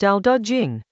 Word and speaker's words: Dao De Jing: Dao De Jing, pronounced Dao De Jing Chapter 4.